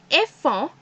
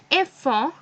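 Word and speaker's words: enfants: And children is enfant. But in last I have to put a S. The pronunciation is same, but in last just a S.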